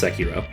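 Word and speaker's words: Sekiro: and yes unlike some other YouTubers I can pronounce seiro which is seiro inspired uh the nine Souls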